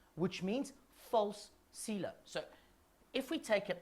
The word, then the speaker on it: coelom: Yeah, a coelom. I love that word. Love it. Because it never sounds like it's spelt, right?